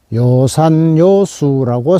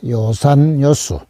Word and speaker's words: 요산요수: 오른쪽에는 요산요수라고 쓰여 있습니다. 요산요수. 첫째 글자와 셋째 글자가 같은 글자인데, 음악 할 때는 악자고, 음악 할 때는 악자로 읽게 되고, 지금 같은 경우는 요로 발음을 하죠.